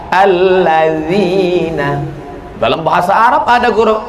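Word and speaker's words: الذين: asin ini a-nya dua alat zina loh kok Ma jadi alat zina D sama Z itu bacanya dza dza alladzina dalam bahasa Arab ada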